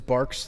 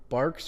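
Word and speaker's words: Barq's: Barks or is it Bark? Is that how you pronounce it? Yeah. I don't see why it wouldn't be Barks or what else could it be?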